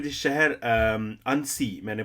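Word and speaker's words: Annecy: अब फ्रांस के जिस शहर अनसी, मैंने प्रोनाउंसिएशन स्पेशली चेक किया, तो अनसी शहर जो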